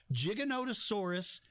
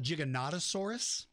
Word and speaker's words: Giganotosaurus: it's a sauropod it's a long neck dinosaur giganotosaurus is the proper way to now uh you can call it giganotosaurus if you like but something else i want